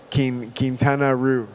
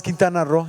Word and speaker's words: Quintana Roo: Yo, en inglés, ro, como se escribe aquí, R-O, en inglés es rue. Entonces yo, como un gringo, por muchos años la pasaba diciendo costó? Quintana Roo. Y todos, no, es Quintana Roo.